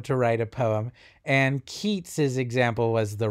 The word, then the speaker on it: Keats: a 19th century poem keats's uh owed on a grecian urn i know their names are spelled the same but they're pronounced differently so it's yates and keats and i also i'll